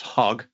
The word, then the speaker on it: hog: So for example, there's hog, and that one's more with a sound, ho.